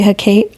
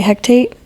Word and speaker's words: Hecate: I mean, I know how to say Hecate, although I always like to say Hectate, and I don't know why. I always say Hecate too. I don't know why. I don't know. That's my dyslexia. Hecate. I switched the T and the C around.